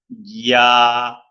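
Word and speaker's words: ياء: এই জায়গা থেকে আরেকটি হরফ উচ্চারণ হয়, এটা 1 আলিফ টেনে পড়তে হয়, এই যে এটাকে পড়তে হবে এইভাবে, ইয়া ইয়া ইয়া ইয়া। আমি যদি বাংলায় লিখি তাহলে হবে এই যে এইভাবে, জপলা থাকবে, জপলা, ইয়া ইয়া ইয়া।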